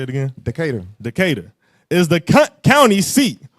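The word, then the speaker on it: Decatur: County of which how you say it again decada decada is the county seat wound wound up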